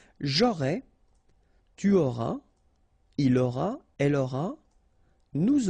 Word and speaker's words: auras: And for avoir, it will go like j'aurai, tu auras, il aura, elle aura, nous aurons, vous aurez, ils auront, elles auront. Okay, so have a look now. J'aurai, tu auras, final S not pronounced, il aura, elle aura,